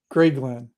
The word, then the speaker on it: Grayglen: he goes of of Grayglen. Of Grayglen. Grayglen. Can you spell that, please? g r a y Gray and then Glen g l e n Grayglen.